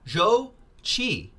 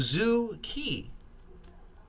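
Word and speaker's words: Zhou Qi: his name right here it's actually Joe Joe Joe Chee I've been saying zu ki I'm not Chinese I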